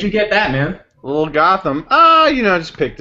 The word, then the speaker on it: Gotham: Pronounce the T. Where'd you get that, man? Little Gotham.